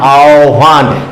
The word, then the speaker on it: আহ্বান: আ আ ও আও তারপরে হবে কিন্তু ভান আও ভান হিন্দির টানে তারপরে এর উচ্চারণটা কি হবে আ হয় বয়টা তাহলে আও